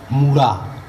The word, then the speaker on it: Munda: এটা মুন্ডা শব্দটো কোরপরা আহিলে, মুন্ডা শব্দটো ইংরাজিত মুন্ডা বলে উচ্চারণ হয়, আসলে প্রকৃত শব্দটো হৈছে মুড়া।